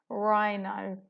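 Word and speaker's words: rhino: this a digraph so the H is silent and it's making a sound RINO well done if you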